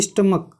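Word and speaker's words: stomach: क्यों, क्योंकि इसका जो उच्चारण है, जो प्रोनाउंसिएशन है उसका क्या होगा, वो क आ रहा है, जैसे कि स्टमक।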